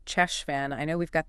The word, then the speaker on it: Cheshvan: through it sure thing it sounds like you've been saying it with a silent h at the beginning maybe that's a common mistake the right way is actually chesan with a guttal sheay sound kind of like in the German word back chesan got it finally